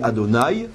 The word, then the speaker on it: Adonai: j'ai le droit de le dire, on dit Adonai.